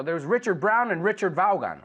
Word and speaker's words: Vaughan: So there's Richard Brown and Richard Vaughan, or Richard Vaughn, if you know how to say it correctly. But even he says Vaughan.